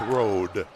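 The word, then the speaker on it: Rhoade: Fogle has it now r h o a d e pronounced Road nice Steel lob underneath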